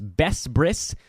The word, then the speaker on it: Besbris: that's my last name it's best bris it is spelled the way it sounds but on a podcast